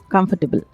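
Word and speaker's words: comfortable: शब्द कंफर्टेबल यानी आरामदायक कॉमिफर्टेबल में ध्यान दीजिएगा आर लगभग साइलेंट होता है कंफर्टेबल कहते हैं नया शब्द थ्रेटनिंग कोई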